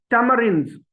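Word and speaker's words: tamarins: तो ये बनता है, अब आर बोला जाएगा टेमरिन्स, टेमरिन्स, टेमरिन्स।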